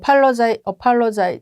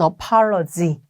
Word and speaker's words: apologize: 얘도 apologize 이렇게 자꾸 하시는데 얘는 apology. 끝에가 그냥 g 끝나고요. 얘는 gize 이렇게.